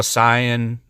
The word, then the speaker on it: Saiyan: say it I think even though Sian is the proper way to say it saying is easier to say so I'm just going